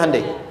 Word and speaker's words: Hyundai: bikin Honda sini Hai Hyundai kan dibacanya hundai ya kan sana Honda